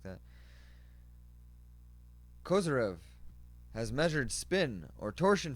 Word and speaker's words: Kozyrev: Pronounced Kozyrev.